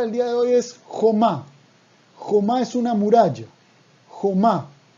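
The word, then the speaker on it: חומה: Y otra cosa muy interesante de esta palabra jomá, es que jomá, si decimos jumá, escuchen la diferencia. Jomá es muralla. Jomá, con O, con la vocal O.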